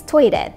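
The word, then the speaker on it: トイレ: For example, "toilet" is pronounced as "to-i-re" in Japanese.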